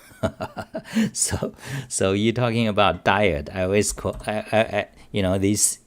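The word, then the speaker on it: dired: the ed you know i always pronounce it diet it's it's called diet because it's a directory editor it showed for directory editor to add so direct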